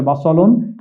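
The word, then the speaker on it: بصل: পেঁয়াজের আরবি শব্দ হচ্ছে বাসলুন বাসল শব্দটি সরাসরি কোরআন শরীফে বাসালুন শব্দ হিসেবেই এসছে পেঁয়াজকে বোঝানোর জন্য তাহলে শব্দটি আমরা এটা কিন্তু এই যে দন্তস লিখেছি এটি সিন নয় এটি সদ এখানে আমরা দেখছি বা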